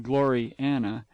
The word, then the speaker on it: Gloriana: Gloriana, pronounced as two words, Glory Anna, being the work of